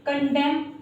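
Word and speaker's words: condemn: ठीक है, यहाँ पर गाइस जो एन है वो साइलेंट है, इसी वजह से हमने एन को प्रोनाउंशिएट नहीं किया है।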